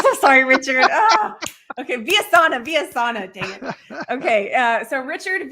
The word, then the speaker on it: Villasana: Okay, Vyasana, dang it. Okay, so Richard Vyasana. Richard is spelled just how it sounds, and then Villasana.